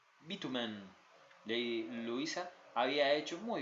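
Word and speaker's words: Beauchemin: El señor Fred había aprendido a pronunciar su nombre de manera correcta, lo llamaba Bitumen.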